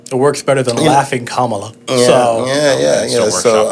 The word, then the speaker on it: Kamala: a name but listen ladies and gentlemen it's Kamala Kamala Kamala Kam uh and we're making that